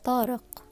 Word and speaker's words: Tariq: Tariq is the hardest pronunciation in Arabic. The Q? Is it not just a hard K sound? Stress that Q, bestie. You got this.